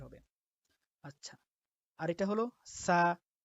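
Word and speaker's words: ث: আর যদি আপনি এই 2 নোক্তার উপরে আরেকটা নোক্তা দেন তাহলে হয়ে যাবে যেমন এটা সা। তাহলে বা, তা, সা। আচ্ছা, তারপর এটা হলো জিম। তো যেটাকে আমরা বাংলায় তার উচ্চারণটা বর্গীয় জয়ের মতো হবে, জিম।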